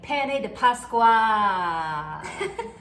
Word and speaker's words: pane di Pasqua: Now we're gonna make pane de pasqua.